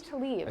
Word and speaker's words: Aqib Talib: That's right, and 100% on pronunciation there. You nailed both of those. Aqib Talib.